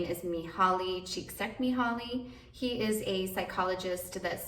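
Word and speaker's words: Mihály Csíkszentmihályi: I believe the way that you pronounce his name is Mihaly Csikszentmihalyi.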